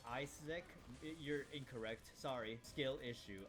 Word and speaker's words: Isaac: Uh, you actually pronounced it wrong. It's Isaac.